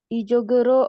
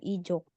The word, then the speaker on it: 이쪽: 안디 씨 이쪽으로 오세요. 네. 자, untuk pelafalannya yang ini 주셔서. 주셔서. 주셔서. 주셔서 감사합니다. Terus yang ini 이쪽으로. 이쪽, ya, bukan ijuk.